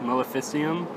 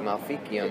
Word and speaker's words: Maleficium: You guys have stated that your third release, Maleficium, if I said that correctly. You said it right. Most people are like Malficium.